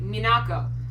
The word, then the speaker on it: Minako: out because I'm pretty sure that you are mispronouncing a sailor moon' name Minako that would be silly yeah that would be